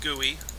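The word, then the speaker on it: GUI: I'll open up this gooey up here and yes it's pronounced gooey couple people commented last time I said gooey that's how it's pronounced I'm not kidding I'm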